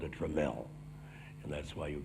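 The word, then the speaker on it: Tramell: a great story about the name this it's pronounced tremel right the uh catherine dramell and the first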